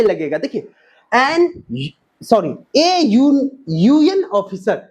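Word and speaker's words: UN: लगेगा, देखिए यूएन officer, यहां पे यू है, यू वोवल है, लेकिन इसका उच्चारण क्या करते हैं, प्रोनाउंसिएशन क्या करते हैं, यू कहते हैं, यो व्यंजन वन आ जाए, इसलिए क्या हो जाएगा, अ यूएन ऑफिसर, अ बीडीओ, अ सीडीओ,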